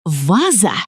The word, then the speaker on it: ваза: А вы знаете, что ударение в слове «ваза» падает на первый слог «ваза», но во множественном числе «вазы» ударение не меняется.